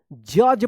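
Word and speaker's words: judge: ई क्या पढ़ेंगे इसको जज पढ़ेंगे डी जी एक साथ है तो ज उच्चारण होगा जज एपीयर्ड ए डबल पी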